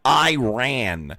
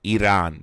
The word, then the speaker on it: Iran: You're mispronouncing it. It's Iran, not Iran.